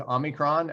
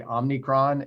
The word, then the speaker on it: omicron: in here because um i've struggled with omicron uh i'm just saying it right uh so that's my little uh slight comedic uh aside um i i so badly want to say omnicron and um and i